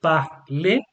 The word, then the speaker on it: parlez: Vous parlez. You don't pronounce the Z.